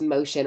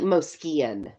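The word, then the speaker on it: Mocion: u in there I don't know but it's pronounced motion or at least that's how David pronounces it it looks like mosan is what if you were to like read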